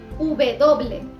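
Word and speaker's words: uve doble: दोनों ही प्रोनाउंसिएशन बिल्कुल ठीक है। उबे दोबले, उबे दोबले यानी कि W, इसे स्पेनिश में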